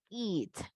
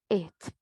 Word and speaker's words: eat: El verbo comer, una acción, eat, eat. Suenan muy parecidos. La única diferencia va a ser que tanto alargamos el sonido de la vocal I o la pronunciación, ese sonido, it, eat.